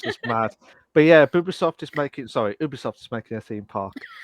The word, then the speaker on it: Ubisoft: What the Ubisoft as well?